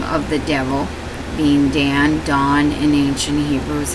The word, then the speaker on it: Dan: the tribe of Dan the dawn is how you say it in the Aramaic Hebrew when he speaks to